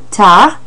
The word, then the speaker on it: tard: Or à plus tard, which is another way of saying see you later, tard. That D is silent on that word tard, so careful with that.